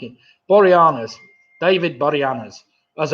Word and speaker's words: Boreanaz: Boreanaz. Ah, that sounds more like it. Boreanaz.